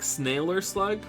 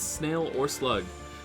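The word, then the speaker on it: SnailerSlug: I always want to say it like sailor, like snailer slug, but it's snail or slug.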